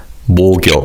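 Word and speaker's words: 목욕: Also, because of connected speech, the kiobim in the first syllable carries over to the second syllable. So, this word is pronounced as mor.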